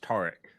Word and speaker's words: Tarek: By the way, my name is pronounced Tarek.